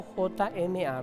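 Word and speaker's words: חכמה: 6 la palabra sabiduría en el hebreo es hokma la pronunciación sería una J o J m a ver jma es jma es la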